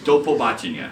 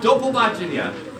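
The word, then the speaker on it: до побачення: And in Ukrainian, you say do pobachenia. It's only 5 syllables. Wow, it's really long. We'll do it one more time. Do pobachenia. Do pobachenia.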